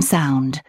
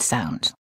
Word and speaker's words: sou: Je n'ai plus un sou. U or U? That was right. There's a U in plus, so the sound is U. And sou is spelled S-O-U, so the sound is OO.